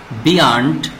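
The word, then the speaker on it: beyond: উচ্চারণ আমাদেরকে শিখতে হবে এই ওয়ার্ড বা শব্দটি আমরা দুইটি সিস্টেমে উচ্চারণ করতে পারি বিয়ান্ড অথবা বিয়ন্ড বিয়ান্ড বললেও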